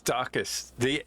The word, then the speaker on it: Daucus: One, Daucus, how I pronounce it? Is it Daucus? Yeah. It's Daucus. D-A-U-C. Daucus. Daucus. And I said Daucus. It sounds. Daucus. Sounds like Dorcas.